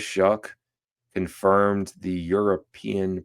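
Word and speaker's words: Shough: But Tyler Shuck coming in and you you look at his name, you think it'd be Shaw, but it is Shuck.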